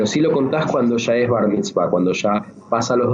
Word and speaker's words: Bar Mitzvah: Creo que es por esto mismo, porque está viviendo en esa etapa de esta iniciación en el Bar Mitzvah. Lo digo bien, ¿no? Bar Mitzvah. Bar Mitzvah, perfectamente pronunciado.